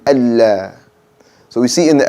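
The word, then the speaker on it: الله: And probably the most popular one, saying Allah when it should be Allah. Okay? Saying Allah when it should be Allah.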